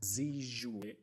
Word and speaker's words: Zi: right yeah i mean my first name is just z um usually people get